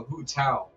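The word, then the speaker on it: Hu Tao: Then you have uh Chi-Chi and uh Ula or Oh no, did I say her name wrong? It's Hula, right? Yeah. No. Huttow, don't hurt me. It's Huttow.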